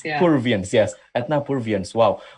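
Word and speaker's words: Purviance: mention again the lady's name i can't really pronounce her name yes peruvians here you go that if not perviance yeah peruvians yes wow like when when i just like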